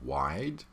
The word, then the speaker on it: wide: Okay, so again here with wide, we have this schwa sound at the end, which really doesn't belong there.